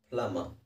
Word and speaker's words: plumber: PLUMBER ಅನ್ನೋದನ್ನ ಎರಡೇ ಅಕ್ಷರದಲ್ಲಿ ಮುಗಿಸೋಣ. ಪ್ಲಮ.